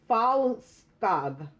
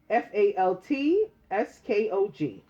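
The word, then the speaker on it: Fältskog: Her name is spelled Macapagl hyphen Arroyo. Macapagal Arroyo. Okay. The last person is Agnetha Falskog. Faltskog.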